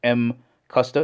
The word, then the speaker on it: Mcusta: is the name of the company here pronounced m custa it's a combination of